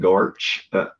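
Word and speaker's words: GOARCH: We simply set the target architecture with the goose and gorch our environment variables and run go build. I have it on good authority, that's how you pronounce those.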